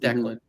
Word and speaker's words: Declan: It's pronounced Declan. Very popular name, especially in Ireland.